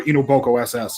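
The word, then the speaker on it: Inu x Boku SS: what he suggested is ino x boku SS or ito boku SS usually the x is silent in these kinds of titles and this here a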